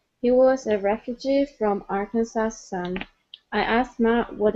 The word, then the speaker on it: Arkansas: it's actually pronounced uh arkansas okay so the s at the end is not pronounced okay this is a state in the united states okay it is arkansas arkansas okay one more